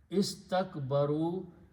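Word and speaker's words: استكبروا: So allazina, those people, istakbaru, they were arrogant. So you just put an alif, we don't pronounce.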